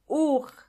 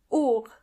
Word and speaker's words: Uhr: Uhr. Uhr means clock, and the H in this case is silent. Uhr.